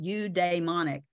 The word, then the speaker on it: eudaimonic: And the concept, and this is how you say it, eudaimonic, the concept of eudaimonia dates back to the 4th century.